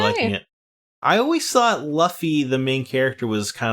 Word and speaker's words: Luffy: got corrected before like it's luffy in our defense it's spelled luffy it is spelled like luffy but i guess they're going about the japanese pronunciation when uh you spell